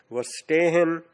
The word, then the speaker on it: Verstehen: Repeat, Verstehen, V is pronounced as F.